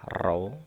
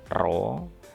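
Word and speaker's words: ρ: ini dengan simbolnya adalah roh ini row bacanya dimana massa jenis ini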